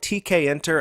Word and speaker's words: Tkinter: we come to tkin some folks wonder how to pronounce this framework is it tkinter I call it tkin and I think that's pretty much the standard way to refer to this toolkit and it makes sense